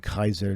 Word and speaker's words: Kaiser: yeah because it's really it's pronounced Kaiser not not Caesar Julius is pronounced ulius all right there's no there's no J in the Latin or there a c word in the Latin it's always pronounce uh Kaiser where you see the uh the C all right uh leave it